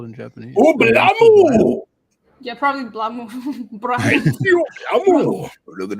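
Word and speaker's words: BLAME!: So chat's saying it's just BLAME, and I know it's supposed to be pronounced blam, and it just got Englishified.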